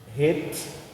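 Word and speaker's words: חֵית: Het. E nós escrevemos assim, mas a pronúncia é Het, né? Porque o CH do inglês ele tem uma pronúncia de RR.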